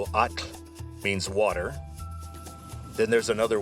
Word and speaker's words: atl: atl You'd spell that a t l. atl And you have to say the t and the l pretty much simultaneously. It's kind of a weird position of your tongue, but get used to